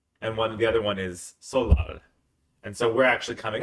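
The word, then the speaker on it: 설날: Like sometimes in English it's spelled with an N in it, like Solnal, but then there's no N. That's the weird thing is that, I think it's because it's the Nal is the day, so it's the day of the Sol with the New Year is Sol Nal, but people don't pronounce the N so much.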